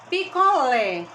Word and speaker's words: picolé: tá bom aqui gente picolé lê é a sílaba mais forte picolé eu identifiquei eu já que essa se lá bate é a mais forte dessa dessa palavra lé ela tem um som aberto então é agudo gente